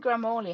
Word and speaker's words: Gramoli: Gramoli. How do you pronounce your name so I can do it correctly? Yeah, you pronounced it perfectly.